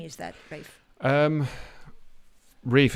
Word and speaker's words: Rafe: Rafe, what name is that, Rafe? Rafe. It's funny. Rafe is the sort of traditional, the sort of old-fashioned pronunciation of the word Ralph, of the name Ralph, like Rafe Fiennes.